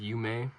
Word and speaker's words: Yume: At first we wanted to call it Yume Marketing, but it's pronounced Yume. Kind of sounds a lot better.